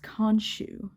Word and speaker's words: Khonshu: Both names start with a KH, but they don't really pronounce the K like they do in the first 2 books. They just pronounce it as an H.